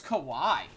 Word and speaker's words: Kawhi: It's Kawhi.